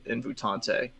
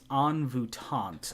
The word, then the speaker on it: Envoûtante: at the upset with Invutante. Chat is saying it's Envoûtante, apparently, and that I just horribly mucked up the pronunciation of that horse's.